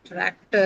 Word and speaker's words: tractor: Some people would say there is no stress and no aspiration given there's a trill ra sound after that. But I think in our uh lecture we take it as something that has uh an aspiration. So we can say that is aspirated tractor.